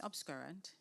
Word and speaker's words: obscurant: conceals can you repeat the word please obscurant obscurant am I pronouncing it yes abscurant yes yes obscurate o b s c u